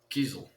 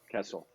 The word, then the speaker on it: Kiesel: Kiesel. Okay. See, I said Kessel, and I was wrong.